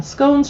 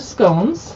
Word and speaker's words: scone: should it be pronounced it either rhymes with gone or tone both are acceptable but my family always